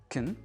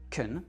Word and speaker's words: can: Ça marche aussi pour "can" par exemple, qu'on va plutôt prononcer "kn" parce que cette syllabe-là va être réduite. On dit pas "I can do it", on dit "I can do it". "I can speak English". "kn" et non pas "can".